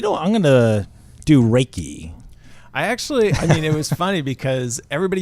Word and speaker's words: Reiki: What I do is, I guess the core, I would say, is Reiki energy healing. So Reiki and intuitive healing.